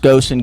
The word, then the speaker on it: Goossen: Yeah, it's pronounced Goosen, Goosen.